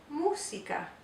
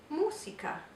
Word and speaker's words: música: Okay, we have to make sure we say the U as a U, mu, and also the accent mark tells us to place the emphasis on that first syllable. And because this is a cognate, we always want to pronounce the S like the Z sound, like in music, but we can't do that in Spanish, so it's música.